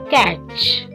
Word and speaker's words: catch: pattern reach lunch catch when T is before CH it is silent so catch always remember this rule